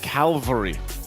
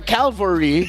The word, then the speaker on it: cavalry: I just was surprised because I've always said Calvary instead of cavalry. Oh, so you mixed up the L and the... I mixed it up, but that's the first thing that comes to mind. Pronouncing it correctly.